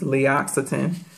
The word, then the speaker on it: L'Occitane: And it's L'Occitane. It's pronounced like it has two X's in it, but it's two C's, L'Occitane.